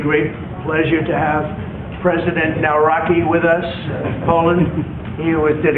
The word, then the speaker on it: Nawrocki: Yeah, bet- Nawrocki.